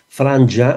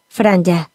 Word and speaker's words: Franja: Franja, igual que així, la Franja de Ponent, està pronunciada, o s'ha de pronunciar, conforme ens diu el Diccionari Normatiu Valencià, Franja, amb J. Franja.